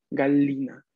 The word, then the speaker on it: gallina: porque el singular es gallina gallina que se escribe tal cual escribimos gallina en español pero italiano sabemos que el sonido va a ser doble l la gallina ok de acuerdo ok